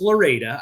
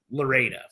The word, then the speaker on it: Florida: It's pronounced Loretta. I understand that. But forget it. You know, people are going to call it Lorida.